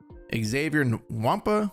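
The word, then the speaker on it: Xavier Nwankpa: Xavier Wampa, that's how you say his name.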